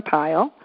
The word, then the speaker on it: Pyle: with you pile comm and my last name is spelled py le like Gomer pile and I'm there my